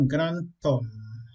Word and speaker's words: grand homme: h muet lorsqu'on veut faire la liaison on prononce pas deux mais exemple on va dire ici un grand homme un grand homme ils n'ont un grand homme